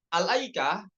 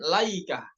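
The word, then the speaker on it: الأيكة: kita ingin memulai kata alaikah pada Surah asyuara dan surah Shad ya yang sesuai ada di kitab ini itu dengan dibacanya dengan Hamzah yaitu Al aikah bukan laikah ya Masyaallah kita ini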